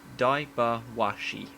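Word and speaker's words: Daiba-Washi: these um Guardian spirits diaper washy wind elemental pronounced dybo washy the name means host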